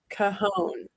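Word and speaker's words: Cajón: Cajon is what Fred said. That's how you pronounce it.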